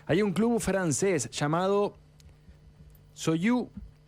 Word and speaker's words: Sochaux: Hay un club francés llamado Soyou Montbéliard. Así se pronuncia. Se escribe Sochaux Montbéliard.